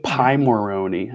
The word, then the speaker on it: Pimoroni: to pronounce it yeah pemeroni pymoroni as in pirate and paw patrol okay carrot and pie